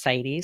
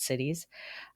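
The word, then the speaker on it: CITES: the united states oh it's actually pronounced city sorry not cities um it bans commercial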